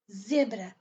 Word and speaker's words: zebra: dit ZZ zèbre pardon Zebra ça veut dire zèbre et on donne accent avant dernière syllabe zèbre pardon voilà pour